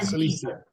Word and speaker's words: Cilicia: Cilicia. That's what it is. And If it he. Some was may say, one some word may say, together, I would know it. some may say Cilicia, but Cilicia.